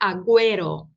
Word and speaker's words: agüero: Quando você escreve GU com diéresis ante E ou ante I, se pronuncia lá U.